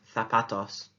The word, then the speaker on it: zapatos: What do you notice about the pronunciation of zapatos? Absolutely, the Z is pronounced as a TH or a th.